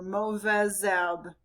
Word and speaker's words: mauvaise herbe: The H in silent is, or the H in herbe is silent, so the Z is going to carry over. Mauvaise herbe.